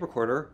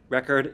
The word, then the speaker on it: record: on the first syllable so again record is strong weak record is weak strong so my question was